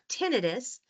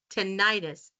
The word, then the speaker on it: tinnitus: You've heard me say tinnitus, but I'm sure you've also heard it pronounced tinnitus. So which one is right? The debate. Clinicians and researchers often prefer tinnitus, while patients and the general public often say tinnitus.